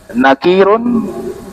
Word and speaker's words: Nakir: Tiga dibaca tanwin. Karena kaidah dalam bahasa Arab, setiap nama yang diambil dari bahasa Arab dibaca tanwin. Kalau nama asing bukan dari bahasa Arab, dibaca tanpa tanwin.